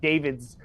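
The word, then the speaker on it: D4vd: spells his name D4 VD but it is pronounced David.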